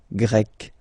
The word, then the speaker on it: grec: You write them differently, but then, if you listen carefully, grec, grec, you pronounce them the same way.